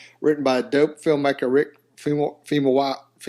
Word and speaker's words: Famuyiwa: 1980s comedy drama written by dope filmmaker Rick Famuyiwa, how you say it?